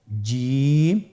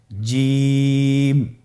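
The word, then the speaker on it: جيم: প্রথম হরফটি হল জিম। পরের হরফটি হা। পরের হরফটি খ। আপনারা আমার সাথে বলুন জিম। হা খ জিম হরফটি বারিক হরফ এটা উচ্চারণ করতে হবে তিন আলিফ টেনে দেখুন আমি কিভাবে উচ্চারণ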